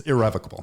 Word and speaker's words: irrevocable: different for an irrevocable is it irrevocable or irrevocable yeah which is it it's irrevocable okay and i having done